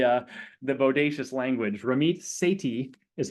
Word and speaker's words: Sethi: he brings the uh the Bodacious language ramit Sati is how you pronounce that last name he is uh of